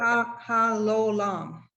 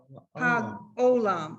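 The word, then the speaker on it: העולם: ha lo lam. No. Well, ha ola. Ha olam. No.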